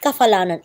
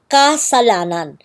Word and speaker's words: kasalanan: It's not kafalanan, it's kasalanan, meaning wrongdoing.